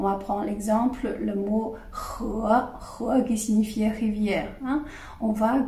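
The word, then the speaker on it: 河: Donc, le son de ce caractère, on le prononce he. Ils ont la même voyelle, d'accord?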